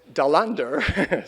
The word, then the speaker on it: Dahlander: happen my interest in Magnus Dahl under Swedish pronunciation stemmed from two things